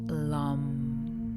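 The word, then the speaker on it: Lam: would chant ohm is the sound of Lum and you pronounce it as L um with the loo held longer than the M so the sound of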